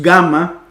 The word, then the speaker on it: Gamma: se pronuncia luego tenemos Gamma que es la g como en gota suena como en gato gota no suena como en gente eso sería una J más bien suena como gota gato la g luego